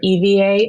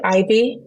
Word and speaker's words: Ivie: my name is Dr Eva and my name is it looks like Ivy people think I'm spelling my name but no it's spelled IV i e but pronounced Eva okay so um my